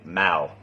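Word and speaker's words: เมา: And for one of those with me is the tone between drunk and cat, or Mal and Mal. And I lots of times I still don't say it right. And I know which one is correct, you know, meow, like the sound meow, and mao for being drunk.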